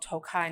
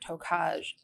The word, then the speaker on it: Tokaj: When I told you it was called Tokai, not Tokaj, did I make fun of your pronunciation about it?